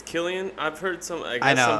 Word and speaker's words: Cillian: how does it spell it's with the c inside c-i-l-l I think but I'm almost positive it's Killian okay I was totally saying Cillian sillion so I was way off all right that's the